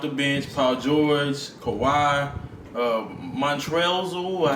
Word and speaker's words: Montrezl: Montrezl Harrell. Yeah, it's an L at the end of his name. So. Yeah, but it's just Montrezl. Okay, all right. L is silent.